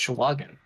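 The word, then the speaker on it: sahuagin: looking thing oh here we go that's a sahagan oh it's schwagen oh is that how it's pronounced sherwagon yeah it's even funnier like shabbat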